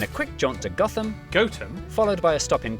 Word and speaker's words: Gotham: sister toaster then a quick jaunt to gotham goatum followed by a stop in cuanmore quorma before